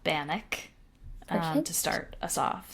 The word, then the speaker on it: Bannack: The town is spelled ACK, but it was named after the Bannack Native American tribe.